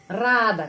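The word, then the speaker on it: радо: Netral Ano Ano Rado kita menulis Rado Tapi bacanya a di sini rada karena penekanannya di sini Ano rada dan bentuk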